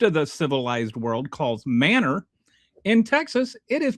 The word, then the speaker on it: Manor: every word in Texan has like its own pronunciation. So, M A N O R, which the rest of the civilized world calls manor in Texas it is pronounced manor.